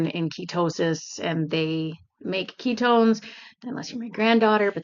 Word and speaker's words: Qitone: enough to make the ketones. And I came across a company called Ketone and it is spelled Qi Tone, but it's pronounced Ketone.